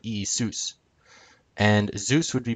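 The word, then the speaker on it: Ιησούς: e seuss e seuss with the accent on soos not e seuss but e soos and zeus would be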